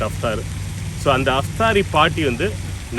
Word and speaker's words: Iftari: now it is about Iftari party in the night when they close the fasting they call it Iftari, but it is pronounced aftari...i am going to share the iftar celebration with my extended family...